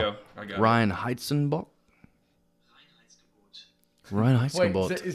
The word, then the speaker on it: Reinheitsgebot: Whenever you said that word, and I actually looked it up, and it has a German pronunciation. It's Reinheitsgebot.